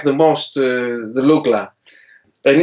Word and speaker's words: Lookla: So it's pronounced Lookla. Lookla, yeah.